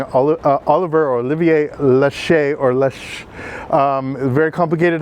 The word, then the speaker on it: Laxe: Lash. It's spelled Lax. It's pronounced Lache.